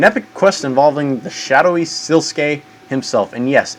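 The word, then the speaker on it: Sliske: presumed dead an Epic Quest involving the shadowy silkee himself and yes it's pronounced siluk I looked it up so all right some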